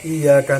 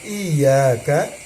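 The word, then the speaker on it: إِيَّاكَ: iaka nastain ya jadi dalam mengucapkan iyaka ya Wa iyaka itu harus disidahkan ya jangan ya ya tapi harus disidahkan harus bacanya ya Kenapa demikian ya karena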